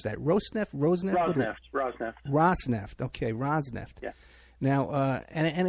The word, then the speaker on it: Rosneft: First of all, how do you pronounce that? Rosneft? Rosneft.